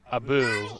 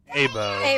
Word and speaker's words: Abu: like I need to give it to Ethan because he at least the phonetic pronunciation of that word, Sure. Abu, is correct. Brendan No. said Abo, Abo. which is not correct. Not correct. It's a boo.